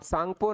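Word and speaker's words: Tsangpo: अब सांगपो नदी के नाम से इसे जाना जाता है, जिसमें टी जो है वो साइलेंट होता है और इस नदी की टोटल लेंथ जो है वो 2900 किलोमीटर है।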